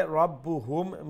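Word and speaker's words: رَبُّهُمْ: كذبت ثمود بطغواها إذ انبعث أشقاها فقال لهم رسول الله ناقة الله وسقياها فكذبوه فعقروها فدمدم عليهم ربهم بذنبهم ربهم زي ربهم ميم ساكن في بايسنني ربهم بذنبهم ربهم بذنبهم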